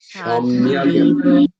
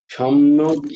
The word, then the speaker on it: সম্যগ: সমগ্রের জায়গায় সমগ্র বল সাধুর এব সাধুরেব সমন্ত্যব্য সম্যগ সাধুরেব সমন্ত্যব্য সম্যগ সমন্ত সম্যগ সম্যজ্ঞ নয় সম্যগ ব্যবসিত জপলাটা বয়ে লাগাও সম্যগে গটাতে